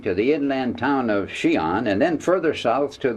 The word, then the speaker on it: Xi'an: a large jet plane from beijing down to xi'an which is spelled x i a n took less than